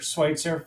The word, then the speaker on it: Schwitzer: We've been saying his name wrong for years, apparently. Jason, it's Schwitzer from Gage.